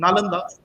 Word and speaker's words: Nalanda: first thing is that the name of nalanda which we generally pronounce as we are writing again actually the name is na landa it is it is the same way wrong pronunciation and wrong writing followed it comes from three